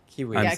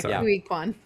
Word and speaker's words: Ke Huy Quan: Is that how you say it? Yeah. Key Huy Quan. Key Huy Quan. Like the like the like the fruit. So. Yeah. Key Huy Quan.